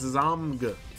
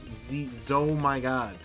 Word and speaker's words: ZOMG: No, it's Zomg. Like it's Zomigod. Like Zomigod. That's how you say it, right? Not Z-O-M-G. That's... Why would you make it 4 syllables when it doesn't need to be 4 syllables?